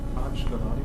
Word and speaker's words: Gullotty: How is that pronounced? Gullotty.